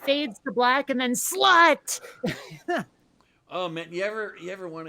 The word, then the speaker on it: slut: speaking country is that the way to say the end, like at the end of a movie, you know, they'll put the end up there, is slut, but it's spelled slut.